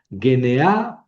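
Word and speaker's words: γενεά: Pero aquí las dos son fuertes, entonces no hay diptongo. Es g n a. Primera sílaba G. Segunda sílaba ne. Tercera sílaba a genea poretai.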